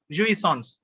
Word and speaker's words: jouissance: ஜூஇசான்ஸ் அப்படின்னு ப்ரொனவுன்ஸ் பண்றாங்க.